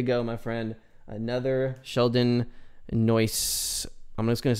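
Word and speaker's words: Neuse: to pronounce the name someone told me it's like a noise or noisy i can't remember it's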